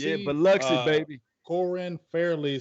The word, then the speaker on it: Biloxi: Biloxi. Yeah, Biloxi, baby.